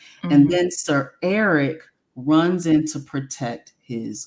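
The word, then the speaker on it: Arryk: even said that because technically their names are pronounced the same um Eric and Eric but it's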